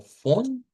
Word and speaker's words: von: sonido donde dice VON, eso lo vamos a pronunciar como fon, con F, con la contraparte.